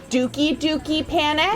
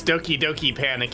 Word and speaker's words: Doki Doki Panic: read this question I definitely thought that that was going to be pronounced dookie dookie Panic no it's Doki Doki Panic it was a game